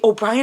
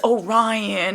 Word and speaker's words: Orion: Oh, by the way, O'Brien is not O'Brien. It's Orion. I just discovered this recently. It is not O'Brien, y'all.